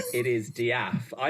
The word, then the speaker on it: De'Ath: Um, how is it Dath? Dath. How do you pronounce the last name? It is Daf.